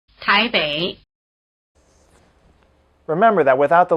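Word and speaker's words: 台北: Wěi, Wěi, Wěi The diphthong "ei" is spelled EI as in Taipei, which is pronounced in Chinese like this. Táiběi, Táiběi Remember that without the letter I the letter E was pronounced "e".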